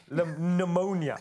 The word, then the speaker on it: pneumonia: but it's like pneumonia also with silent be pneumonia it's a sighs okay alright well if you